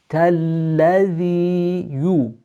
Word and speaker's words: الذي: Shadda on the lam means that we're pronouncing two lams. أرأي. Softness again on the ya. الذي.